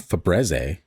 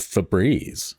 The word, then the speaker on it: Febreze: with money they're like it's not fabreze it's febreze is it spelled with one e it's spelled with 20. yeah sounds like febreze to me yeah you can see either way there's an e at the end so the e makes an e sound that's grammar the e